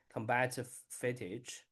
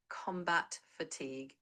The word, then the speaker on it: combat fatigue: Combative fage. Did I pronounce correct?